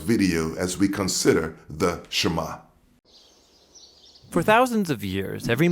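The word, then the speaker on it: שמע: is hear or listen which in hebrew is pronounced shema that's where the prayer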